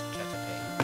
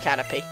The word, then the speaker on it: Caterpie: Spelled like pie. No, Caterpie. It's Caterpie. P-I-E. But yeah, it is pronounced Caterpie.